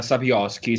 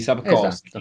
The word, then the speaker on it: Sapkowski: Sapkowski, Sapkowski, non Esatto. so come si pronuncia perché ci sono un po' troppe consonanti vicine.